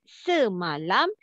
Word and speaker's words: semalam: The first syllable is se. The second syllable is ma. The third syllable is lam.